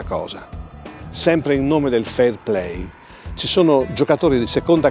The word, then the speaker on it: fair play: vedere un'altra parte del video che riguarda il fairplay che come ben Sap vi questi campionati da racconto sempre di Paolo patui si pronuncia fair play ma in realtà è come